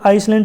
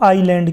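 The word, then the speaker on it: island: अंडमानस एंड Nicobar आइलैंड अब देखिए यहां पे आपको इसको जलैंड या फिर आइसलैंड नहीं बोलना ये क्या बोलेंगे इसको आईलैंड क्योंकि इसमें जो एस है ये क्या है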